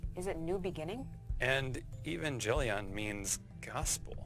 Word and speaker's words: Evangelion: and evangelion means gospel it's pronounced evangelion but let's go right